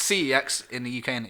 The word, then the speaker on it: CeX: So I looked CEX, or I think it's pronounced sex, actually, if you're European and you're a stickler. But it's CEX in the UK, isn't it?